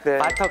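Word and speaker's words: Walter: 월터 크루거에 대해서 조금만 첨언하면은 발음이 좀 다르죠. 정확히는 말터 크루거입니다. 그거는 이분이 독일 출생, 태어나기를 독일에서 출생을 했습니다.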